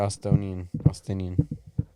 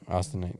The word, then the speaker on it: Austinite: You're Austinian. How do you say it? I'm from here and I don't even know. Austinite. There you go.